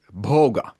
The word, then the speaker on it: bhoga: Um, experience on the other hand is uh called in Sanskrit bogga. Funny how that rhymes with yoga, right? Uh, and this is not a coincidence. Boga comes from the Sanskrit Sanskrit root bj which means enjoying, partaking or experiencing.